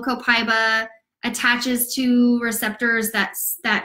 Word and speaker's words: copaiba: beat copaiba which by the way I've been mispronouncing all this time I've been saying copaiba it's copaiba my bad sorry about that it also interacts